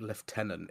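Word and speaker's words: lieutenant: I I always like left tenant it's one that feels like it doesn't go anywhere doesn't it it's yeah I think it helps that it's such an odd word like the way that it's spell it's one of the few that I will concede to the Americans where does the F come from it comes from Britain um so I I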